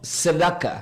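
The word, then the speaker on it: צדקה: en la palabra justicia, que del hebreo se pronuncia como tzedaka. tzedaka.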